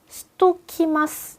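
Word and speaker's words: しときます: 한번 빨리 발음하면 어떻게 돼요? 시대오 요 부분을요. 시토키마스 이렇게 그냥 넘어가요.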